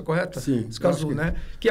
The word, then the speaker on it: Escazú: E pegando esse gancho da América do Sul, eu queria perguntar sobre o Acordo de Escazú. É essa a pronúncia correta? Sim. Escazú, né?